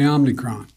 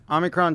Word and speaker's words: Omicron: of millions of americans the president also mispronounced the name of the new variant multiple times it's called the omnicron omnicron the omnicron variant the face the omnichrome variant i hear you man